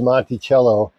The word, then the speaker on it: Montello: I actually had to look up how to pronounce that it is Monty cello and it comes in cellophane apparently all right